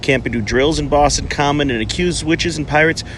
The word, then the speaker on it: Boston Common: end to Boston Common it's just pronounced Boston Common not the Boston Common or Boston cummins it is just pronounced